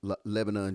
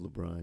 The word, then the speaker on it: LeBron: That's like me trying to play against Lebanon James. Lebanon James. You say his name all loud and wrong. I know it's LeBron James.